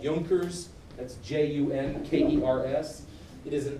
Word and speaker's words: Junkers: If you were to pronounce it in English, you would say Junkers, but it's German, so it's Junkers.